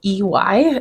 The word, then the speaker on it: Coffey: Is Coffey, and I don't have any idea how else to pronounce that. Okay. Coffee? Yeah. Either way, it sounds like coffee.